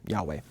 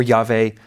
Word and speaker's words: Yahweh: So, you really get a combination of Lord and Yahweh. Or Yahveh. Those are the two primary opinions right now regarding how to pronounce the name.